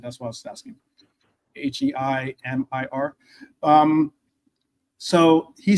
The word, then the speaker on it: Heimir: I didn't want to mispronounce it. That's why I was asking. Heimir.